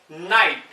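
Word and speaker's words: night: किसी वर्ड के लास्ट में जी एच या जी एच टी हो तो जी एच यूजुअली साइलेंट रहता है।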